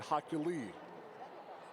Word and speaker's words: Hoculi: There, I made the mistake today. It's Dread Hoculi.